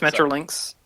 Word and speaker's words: Metrolinx: out really good that's metrolinx uh but it is it is pronounced like the animal mutual links uh it's